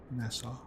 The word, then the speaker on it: Nassau: It's like NASA. Nassau.